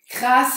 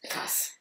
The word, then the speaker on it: krass: Et ça se prononce avec un A long ou plutôt court? Krass. Krass. Krass. Krass. Krass. Quand même un peu long. Ça entre les deux, ouais, c'est un peu plus long, mais ouais. Et le S bien prononcé, Ouais. vu qu'il y a les deux S.